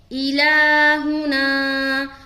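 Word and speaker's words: إلهنا: الہنا. اب ہجے دیکھے، حمزہ زیر ای، لام کھڑا زبر لا، الہ، ہا پیش ہو، الہو، نون الف زبر نا، الہنا. کہاں کھینچنا ہے؟ لام میں اور نا میں.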